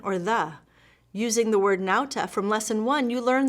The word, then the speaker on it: nauta: one has one word nauta it means sailor do you recognize modern words using this latin root the book tells you the first syllable sounds like now and the author also